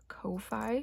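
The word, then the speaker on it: Ko-fi: know but I do have a Kofi shop or a coffee shop however that's pronounced I'm pretty sure it's Kofi um but I've been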